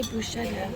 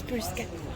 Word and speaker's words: bruschetta: I said it right, but Americans say it wrong. What do they say? Toast. And then, oh, I don't know. They say bruschetta, but it's bruschetta.